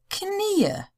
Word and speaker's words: Knie: I just told you that that word is pronounced Knie. And now I'm telling you it's Knie. That's because Knie is one knee and Knie means it's plural.